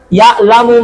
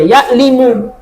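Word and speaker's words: يَعْلَمُ: Ya'lamu ma, ya'lamu. Jadi kalau ada orang yang baca ya ya'limu, sudah langsung ditahu salah. Karena ya'lamu dari kata alima, wazannya apa?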